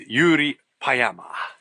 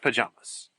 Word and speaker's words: Jyri Paayamaas: in the car for about 25 minutes With Yuri payama that's how you pronounce his name not pajamas Pama and uh he produced and directed this